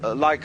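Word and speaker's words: 理: universe which is this they pronounce it Li now this sign has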